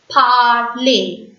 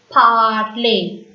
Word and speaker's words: parler: When you find ER at the end of the French word, that word is pronounced as A. ER is A in French. So we have to pronounce this word as parler. Repeat, parler.